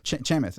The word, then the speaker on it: Chamath: I always pronounce his name wrong, but it's funny that he's your friend. Chamath.